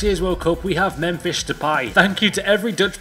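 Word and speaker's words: Memphis Depay: rumor since last year's World Cup we have mfish to pie thank you to every Dutch person in the world for helping me pronounce his name right thank you many think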